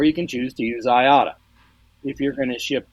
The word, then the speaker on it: IATA: I works with this group, International Air Transport Association, the acronym IATA, we usually pronounce IATA.